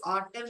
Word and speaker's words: autumn: In the words autumn and column alphabet, N is silent letters.